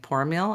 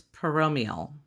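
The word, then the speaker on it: Poromiel: And I guess we've been saying Poromeal and that's wrong. So, apparently it's Peromeal.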